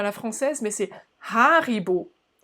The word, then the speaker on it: Haribo: la française mais c'est haribo haribo déjà avec le hc évidemment haribo et puis l'accentuation plutôt sur la première syllabe c'est comme ça que ça c'est typique en allemand haribo richmond au pardon je